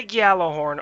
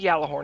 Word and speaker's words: Gjallarhorn: The Gjallarhorn, or the Gjallarhorn, however you like to pronounce it, it is back.